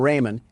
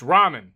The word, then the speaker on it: ramen: Door Dash is on its way to deliver some Raymond, and I don't want to spill any around the pyramid floors. Uh, it's pronounced ramen.